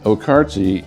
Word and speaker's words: Okarche: And the Okarti is spelled OK K A R C H E.